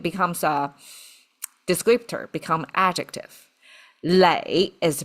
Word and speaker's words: 磊: Lei is the pronunciation.